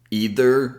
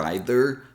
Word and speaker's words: either: use as well to either or either both pronunciations are okay and neither so let's